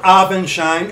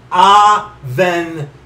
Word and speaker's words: Avenshine: Brother Avenshine, and get the last name, Avenshine. Okay? Avenshine. Pronounce it right. okay? If you want to purposely mispronounce it like I'm doing with Snot Scott, go ahead. But if you want to be accurate about it, that's how you pronounce it, okay?